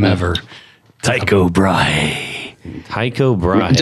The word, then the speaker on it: Tycho Brahe: And that's the coolest name ever, Tycho Brahe. Tycho Brahe. I don't even know if I say it right. I know you are saying it right. Is that right? Yeah. It's like Tycho Brahe.